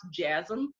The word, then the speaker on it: JASM: It's called Japanese American Society of Minnesota, but it's pronounced JASM, which it just sounds funny. Okay.